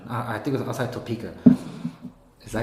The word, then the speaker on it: Topeka: I think it was outside Topeka. Is that how you pronounce it? I don't know. Topeka, yeah.